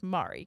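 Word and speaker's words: Mare: And you ask how to pronounce my name and it is, okay, and they say M-A-R-E. So you would assume that's Mari, correct? Yes. Okay, Mari. Yes.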